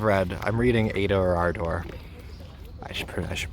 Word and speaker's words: Ardor: I could have read, I'm reading Ada or Ardor. I should pronounce that correctly because Nabokov would be furious with me. Ada or Ada. Ardor with the long ah sound.